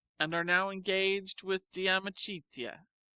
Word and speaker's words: De Amicitia: We've finished Livy and De Senectute, and are now engaged with De Amicitia, pronounced Dam Ichidia.